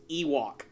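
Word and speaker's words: Yhwach: the first one literally his name is pronounced Ewok like a freaking furry Creature from the planet of Endor that that throws me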